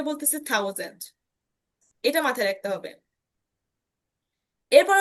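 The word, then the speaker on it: tausend: তো এটার উচ্চারণটা হবে হচ্ছে থাউজেন্ড। থাউজেন্ড ঠিক আছে থাউজেন্ড। থাউজেন্ড আইন থাউজেন্ড। আইন থাউজেন্ড তারপরে সয় থাউজেন্ড ডাই থাউজেন্ড। ত এবং থর সংমিশ্রণে কিন্তু উচ্চারণটা হচ্ছে।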